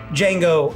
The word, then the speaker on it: Django: Django Unchained. The D is silent.